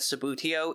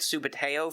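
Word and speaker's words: Subbuteo: In fact, I just learned that Sabutio is the proper pronunciation, whereas my brothers and I have been calling it Subuteo for decades.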